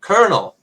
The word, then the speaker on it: colonel: my mind called kernel colonel colonel very good Colonel yes there we go that is a tricky one because it it is